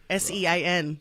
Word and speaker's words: Sean: Apparently, the Irish name Sean is the most mispronounced name in the world. Sean. Right, what do they butcher call it? that? Scene? It could be seen. Scene, yeah. That's not my name.